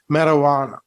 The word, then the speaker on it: marijuana: if smoked or eaten so then learn the correct pronunciation of this word marijuana or marijuana or marijuana okay there are so many different pronunciations but according to cambridge university but according to cambridge dictionary the pronunciation is marijuana so you can keep